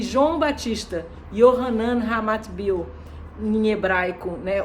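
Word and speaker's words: יוחנן: quando o próprio João, Yohanan, que é Yah, é gracioso, misericordioso, né? Esse é o significado do nome de João, que poderia ser pronunciado também Yahanan, né?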